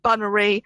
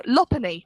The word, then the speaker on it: Lopunny: I was breeding with a Lopunny, trying to get the perfect Bunnery and Shiny, and you shouldn't pronounce it like that.